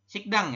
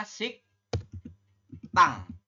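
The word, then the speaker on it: 식당: bunyi menjadi sang Diget Jadi anda membacanya bukan sigikdang ya sik Dang seperti ini bukan teman-teman tapi dibacanya adalah sik tang seperti ini ya sik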